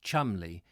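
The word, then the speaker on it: Cholmondeley: like how the surname Cheol Monde orally is pronounced Chumley try the der bits etiquette guide for some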